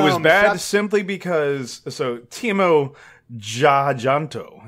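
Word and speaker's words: Timo Tjahjanto: So, Timo Jajanto is how I would pronounce it. Yeah, name. Okay. Timo Jajanto.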